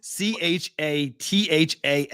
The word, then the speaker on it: Chatham: sounds that don't happen how is c-h-a-t-h-a-m Chatham c-h-a-t-h-a-m -t-h Chatham yes Chatham there's no h uh how do you